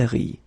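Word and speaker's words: rient: that quite many times, you don't pronounce this final ENT, and so phonetically you get the sound RI, okay, exactly like you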